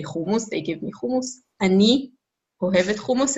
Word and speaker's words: אני: Oh, Ani.